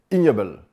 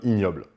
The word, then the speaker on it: Ig Nobel: Et il décide de les appeler les prix Ig Nobel, qu'on prononce ignoble. En anglais, ça se prononce comme ignoble. C'est un jeu de mots.